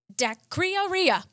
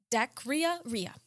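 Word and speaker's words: dacryorrhea: week the word of the week is dakrioriya let me spell it d-a-c-r-y-o-r-r-h-e-a dakria ria is that like a drink no hold on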